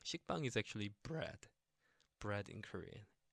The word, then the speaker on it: 식빵: And so the double consonant 비읍, so b, a, ba, and then the circle ing, so the ng sound, so it's like maybe like bang, yeah, ba, not ba, but bang. Okay, so it's 식빵. 식빵 is actually bread in Korean.